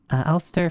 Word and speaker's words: Elster: It's pronounced Elster, German for magpie.